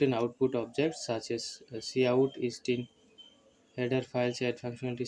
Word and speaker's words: cout: See out pronounced see out is an object used to uh used together with the insert insertion operation to output printed text.